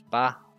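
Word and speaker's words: ば: hang of it so there's ba pronounces ba liking the word bark and then there's pa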